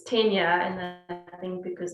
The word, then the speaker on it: Tennier: they called register you know they used to pronounce my surname it's kenya and then i think because it was offered very afrikaans they pronounced it tenure and and i used to have to i